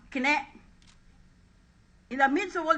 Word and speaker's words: KKNE: Kumibo Ka Naman Enrile, with the acronym KKNE, or pronounced Kine.